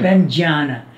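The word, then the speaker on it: prajñāna: Pranjana. It is J and Y combined. Like you have... Prajnana. No, you don't say Prajnana. You don't say the N.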